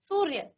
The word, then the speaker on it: सूर्य: जैसे यहां पर सूर्य था सूर्य। तो आपने र का उच्चारण पहले किया य से। सू र आधा र सूर्य। ठीक है? उच्चारण पहले हुआ।